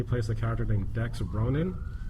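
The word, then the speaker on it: Ronon: He was in Stargate Atlantis, and he plays a character named Dex Ronan, which oddly enough rhymes with Conan.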